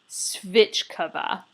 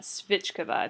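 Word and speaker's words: svíčková: So the thing on the left, like, first it came out, this is called svichkova. Just like try and say that, svichkova. It's spelled S-V-I-K-O-V-A, svichkova.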